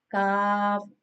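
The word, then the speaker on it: كاف: And now it's kaf, kaf. This is pronounced on the roots of the tongue touching the hard part of the palate.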